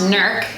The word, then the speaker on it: Newark: Newark, Ohio, but we hear that it's pronounced Newark.